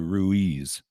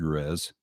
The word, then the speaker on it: Ruiz: sabbath spot is that i called you ruiz because growing up in l.a that's how you would pronounce your name in in los angeles you know but about you pronounce it ruiz right yes okay so i've